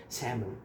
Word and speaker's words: salmon: aqui como que fala e deixei aqui, ó, salmon. Salmon. E aí, o que que eu faço? Eu fico sozinho andando pela casa e falando isso. Semon.